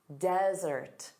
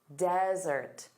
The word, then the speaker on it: desert: So one S, dry, arid land, desert, desert. So notice the syllable stress is on the first sound, da-da, desert.